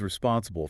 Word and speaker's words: responsible: I was responsible for finding the root cause. Let's focus on that stress.